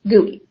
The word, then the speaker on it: GUI: a graphical user interface or GUI pronounced GUI all Mac's are made